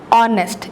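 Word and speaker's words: honest: ऑनेस्ट eight silent है।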